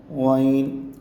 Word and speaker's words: غین: کا کریں گے۔ عین۔ غین کو بھی ہم حلق سے ہی نکالیں گے۔ غین۔ فا کو اوپر والے